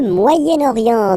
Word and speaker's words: Moyen-Orient: So it's interesting here because normally if you would have only this word here, you would pronounce it moyen, moyen, okay? But then as you get this vowel after, okay, you get to make the liaison between the two. Le Moyen-Orient, Moyen-Orient.